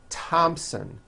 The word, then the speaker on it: Thompson: like to point out although these next words and names are spelled with a th they are pronounced as if they were spelled with with a normal T TT like that and